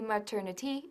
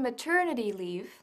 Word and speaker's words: maternity: la última vez también la pronunciación de maternity maternity No maternity ni maternity sino maternity vamos a ver unos ejemplos She was on maternity es lo que precede